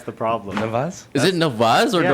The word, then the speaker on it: Nawaz: People try to learn how to say it properly. So I'm like, why am I only calling you? So I think I'm going to start calling you Nawaz. It's Yeah. Nawaz. That's the problem.